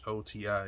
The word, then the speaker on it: Ghoti: But this is basically, if you take the GH sound off the pronunciation of the words like rough, tough, and enough, rough, tough, you got the F sound. You take the O sound from the way we pronounce the women, it's an I-ish type